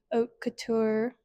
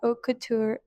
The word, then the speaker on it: haute couture: And if you see it spelled, and if you speak English, you're probably not going to pronounce it right.